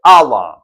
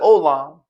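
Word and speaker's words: עולם: It says Ze shmi lit olam, with Ze zikri lit dor. Notice without the vowels, one might pronounce it as lit olam, but someone could come in and say lit alam.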